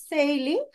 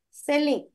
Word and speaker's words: selling: It's not sailing, selling.